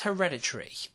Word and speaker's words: Hereditary: audiences in equal measure it's hereditary yes that's how the film should be pronounced the directorial debut from